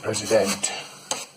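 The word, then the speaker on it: Président: Or as they pronounce it, President.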